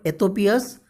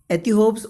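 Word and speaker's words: Ethiope's: You can pronounce this word Ethiopia's or Ethiops also you can pronounce.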